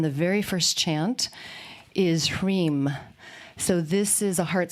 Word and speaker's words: Hrim: And the hreem, if you break hreem down, you have ha, so that's prana and breath. And then you have the r, so that's a fire syllable. So that's why a lot of them are, shreem, cream, hreem, so that the r adds the fire energy there.